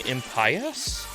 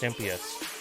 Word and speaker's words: Impious: looking forward to i wanted to keep saying in pious and i i mean since it's the opposite of pious kind of makes sense but it's pronounced mps so hey thorn hey gongor how are you